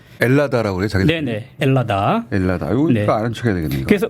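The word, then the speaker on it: Ελλάδα: 구나 그럼 했네 4 요새는 h 발음 잘 안하구요 엘라 다라고 많이 그럽니다 벨라 달아 그래 잘됐네 헬라 다 벨라 다요 이래서 않죠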